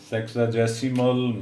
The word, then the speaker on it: sexagesimal: सेक्साजेसिमल measure of angles in radian. तो ये correct pronunciation बेटे इसकी सेक्साजेसिमल, सेक्साजेसिमल, सेक्साजेसिमल measure of